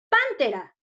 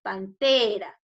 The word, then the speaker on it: pantera: Pántera. Cuando yo quiero decir al animal, pántera. No, Miss, así no se pronuncia. Correcto, es pantera en la T.